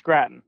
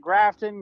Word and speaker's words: Gratton: is that how you say it yes it's gratin okay usually people pronounce it like potato yeah usually we get grafton gratin all kinds of uh for the great